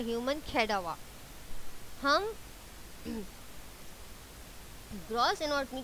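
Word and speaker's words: cadaver: हम कहते हैं ह्यूमन कैडावर। अच्छा, आप यहाँ पे इसकी प्रोनाउंसिएशन गलत नहीं करनी कि आप इसको कैडावीर बोल दें, नो, इट्स कैडावर। तो अगेन एंड अगेन आपने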